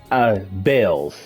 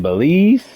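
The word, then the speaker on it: Baelz: Bells. I've been saying Belize.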